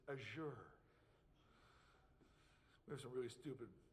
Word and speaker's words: Azure: By the way, that's how it's properly pronounced, and we get lectured on that. So if you call it Azure, we get in trouble. It's Azure.